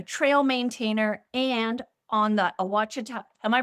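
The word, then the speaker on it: Ouachita: Kerry is a backpacker, a trail maintainer, and on the Awachita. Am I pronouncing that right? Awachita?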